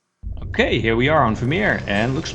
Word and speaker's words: Vermeer: What is the Dutch pronunciation? Vermeer. Well, so that's how you should call it.